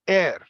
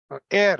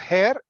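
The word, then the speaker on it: heir: find the answer now this word is pronounced as air air not hair air h e i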